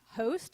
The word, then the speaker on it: HOAST: One of them is called Host, I think is how you say it. It's HOAST.